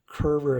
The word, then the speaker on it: Curver: made by curver multi-snap is what it's called curver is spelled c-u-r-v-e-r multi-snap and then here is the